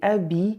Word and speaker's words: habiller: The H in habiller is silent. En français, on peut dire un H muet, which is literally why the French just treat it like a vowel.